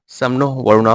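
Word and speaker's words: शं नो वरुणः: The motto सम नो वरुणा, pronounced सम नो वरुणा, which means B auspicious to अस ओ वरुणा.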